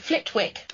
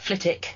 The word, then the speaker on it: Flitwick: it but it's pronounced flitic ah with a sort of Silent W because you know how in the English language we love our silent letters don't we absolutely well